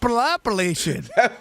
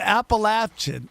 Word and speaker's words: Appalachian State: You added a couple extra syllables. Yeah, he threw in. He made the Hawaiian version of it. Appalachian. Dude, he made him Samoan. I don't know. What is it? Appalachian.